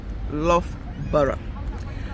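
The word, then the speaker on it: Loughborough: how he said and then love Borough love butter that what there is said love butter another one is door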